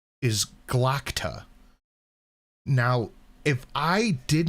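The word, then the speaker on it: Glokta: is a glota right because it's g-l-o-k-t-a so in my head that's gloter but I hear it pronounced I know it's galacta so it's just one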